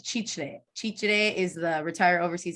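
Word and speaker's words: Chitré: Can I ask you, you said Chichre. Chichre is the Retire Overseas Index beach town in Panama on the Yeah. Pacific Coast. Chichre. How do you spell it? CHIR, sorry, CHITRE, CRE.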